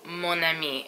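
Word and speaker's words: mon ami: don't say either mom I mean you say monami with avec with the liaison also there is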